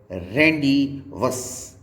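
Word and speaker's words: rendezvous: और Z केवल और केवल एक वर्ड में ही साइलेंट होता है और वो वर्ड है जहाँ पर Z साइलेंट है, रेंडी वस। ये वर्ड में RENDE Z को आप डाइजेस्ट कर जाएंगे, जिसके प्रोनाउंसिएशन को आप नहीं करेंगे तो ये वर्ड हुआ रेंडी, VOUS वस, रेंडवस वर्ड में Z साइलेंट होता है।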